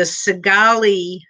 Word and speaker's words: Cigale: oregon in 1977 and it was called the segali drug raid and that's spelled c-i-g-a-l-e okay cigale c-i-g-a-l-e if anybody can google that